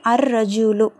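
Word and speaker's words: الرجل: இதை இந்த நாலு லெட்டர்ல நாலு இஸ்முல பாருங்க அன்நஜுமு அன்நஜுமு லாம் இல்ல டைரக்டா அலிப் வந்து நூனோட இணைக்கப்படுது அன்னஜுமு அடுத்தது பாருங்க அதே மாதிரி அர்ரஜூலு லாம் உச்சரிக்கப்படல அடுத்தது அதிக்கு அதிக்கு லாம்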